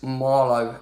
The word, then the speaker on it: Marlow: Now, the top of a Bostic South Central, they rhyme with Harlow, but they're not Harlow, it's Marlow FC.